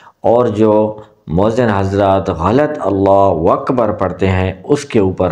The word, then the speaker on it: اللہ اکبر: اب ہماری جو غلطی آ رہی ہے وہ آپ کے سامنے غلط اس طرح کا اللہ اکبر پڑھتے ہیں، اللہ اکبر، اللہ۔ السلام علیکم دوستو، کیسے ہیں آپ؟